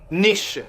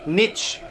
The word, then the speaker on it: niche: c'est difficile d'en choisir une seule, c'est qu'il prononce complètement mal niche. C'est vrai, c'est niche. On insiste. Lui dit nichez comme s'il avait une vilaine.